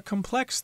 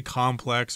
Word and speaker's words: complex: however are much more complex than this you could say complex or complex I think both pronunciations are acceptable and yes indeed we